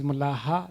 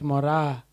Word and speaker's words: Mulaha: Please do not pronounce it in any other way. It is Mulaha, not Mora. Not Moraya and not Mullah. It's Mulaha.